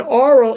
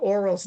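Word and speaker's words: Orual: I'm saying oral, Nick's saying something different, and it's because there's a UA, which is a very difficult thing to say in English, or rual.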